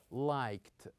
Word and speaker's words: liked: We usually pronounce the ending of this verb with the sound ta. With the sound ta. For example, we say liked, liked.